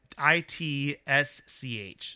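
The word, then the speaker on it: Rawitsch: a man named Don, I think it's pronounced Rawich. Does that sound right to you? Right, Rawich? yeah. Rawich? Yeah. Rawich? So it's Rawich? RAWITCH.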